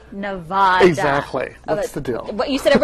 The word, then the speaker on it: Nevada: I actually like the way Paul Giamatti plays the professor in this film, but folks, it's pronounced Nevada, not Nevada.